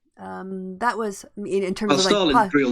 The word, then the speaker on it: Starlin: Right, it's spelled with an R, so it's Starlin. But his name's Stalin Castro.